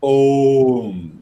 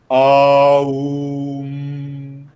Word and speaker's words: Om: So you don't say it is made up of three letters: O, U, Ma. So it becomes Om. So we don't chant Aum.